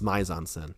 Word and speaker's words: mise en scène: I think she said it's mise en scène.